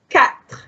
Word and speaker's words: quatre: Number 4, quatre. Quatre. Quatre. Pronounce the T, pronounce the R.